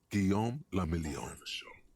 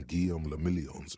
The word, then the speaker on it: Guillaume Lamillion: Guillaume Lamillion. There we go. There we go, especially with me not talking. If it doesn't rhyme, you're not pronouncing it right.